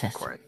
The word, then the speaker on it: Korid: But It's pronounced Korid, yes. Yes. Korid.